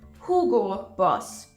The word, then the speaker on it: Hugo Boss: e o o so I hear this one being pronounced Hugo Boss a lot the correct pronunciation is Hugo Boss Hugo Boss the founder